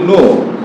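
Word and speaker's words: know: শব্দ আছে যেগুলো কি লিখতে হবে খে কিন্তু উচ্চারণ হবে না এর যদি বলি নো কে এন ও ডবলিউ নো নো অর্থ কি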